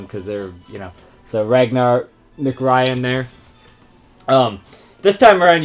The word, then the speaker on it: Ragnar: So your first one is Rangar? I don't remember how you pronounce his name, but McRyan. He's Ragnar, that's it, McRyan, who he's kind of like a warrior sort of character.